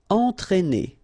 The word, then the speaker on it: entraîner: Alright, so first you get the nasal here, en, and then you get this accent circonflexe on the top of E, but then it doesn't change at all the pronunciation, so just consider that it's just a normal E, okay? But then if you combine it with A, then these 2 letters will produce the sound E, okay?